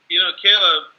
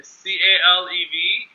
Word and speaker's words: Calev: Look, Caleb, am I pronouncing your name? I don't see how your name is Calev. written. I want to make sure I'm pronouncing it right. Yeah, it's Calev. Okay, C-A-L-E-V, Calev.